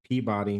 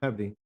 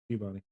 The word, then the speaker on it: Peabody: It's Peabody, Massachusetts. Peep. Not Peabody. Peabody.